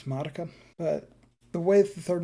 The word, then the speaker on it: Madoka: Madoka is apparently how you say it, not Madoka. It's Madoka.